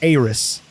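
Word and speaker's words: Aeris: Yeah, Aris, like, think of the A, it's more pronounced like A-E-R-I-S, like Aris. And then Eris with the E is just Eris. Like a short E. But Aris would be just pronouncing like the A.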